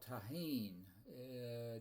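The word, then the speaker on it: Tajín: And it's a kind of seasoning called taheen. T A J I N, but it's the J in Spanish is pronounced like an H.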